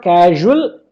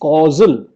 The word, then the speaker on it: causal: is the very cause bill mispronounced it as casual there is slight difference but let me make all the difference it is not casual it is causal causal because the very